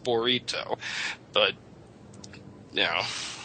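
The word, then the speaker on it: burrito: why you guys say Teo and Anila and Bido you know Bido to me sounds like something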